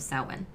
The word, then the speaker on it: Samhain: you mentioned and also we are saying it's sawin cuz uh that is how it's pronounced it's spelled like Sam ha yeah s